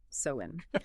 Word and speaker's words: Samhain: It's pronounced Samhain.